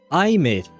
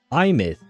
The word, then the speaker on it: Aemeath: Oh, she pronounces it Aemeath. Like an I, like the thing I have right there, and myth, like Mythbusters or something like that. Huh. Aemeath.